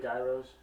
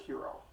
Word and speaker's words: gyros: like the word giant gyros um uh there it's actually pronounced hero um but so that